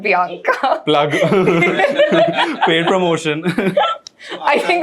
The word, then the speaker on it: Bianca: थोड़ा different है, call it like it sounds like Priyanka but it is Bianca. आज पूरा दिन से तो I've been calling her Banika only.